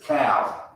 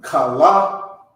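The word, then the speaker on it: כל: Actually, it's cow. It's like it. Cow. Okay, cow. It's not kala, it's cow. Cow.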